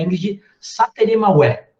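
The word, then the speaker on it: Ingrid Sateré Mawé: e uma honra recebê-la aqui, que é a Ingrid Sateremaué. É isso, né, Ingrid?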